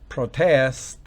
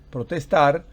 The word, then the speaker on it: protest: referencia a un sustantivo acento en la segunda y última sílaba hace referencia a un verbo sigamos con otros homónimos tenemos aquí reuters protest protestar o por el contrario